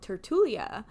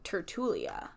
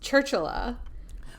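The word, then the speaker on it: tertulia: chat was Tik Tok Tertullia. Dena, which I would pronounce Churchula, right, which is a crime against humanity.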